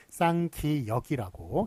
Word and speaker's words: 쌍기역: 1번 보시면 자, 요거 끼역일까요? 끼윽일까요? 쌍기역일까요? 쌍기역일까요? 예, 이거 쌍기역이라고 기역에다가 앞에 쌍자만 붙이는 것이라고 예, 말씀을 드렸습니다.